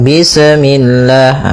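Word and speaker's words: بسم الله: Bismillah. Ah, seperti itu tuh misalnya bismillah. Ah, ini memantul. Kemudian lafal Allah ketika sebelumnya kasrah maka dia dibaca dengan tipis ya dengan L. Bismillah tidak bismillah ya.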